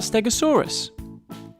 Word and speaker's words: Stegosaurus: Stegosaurus. So what do we know about Stegosaurus?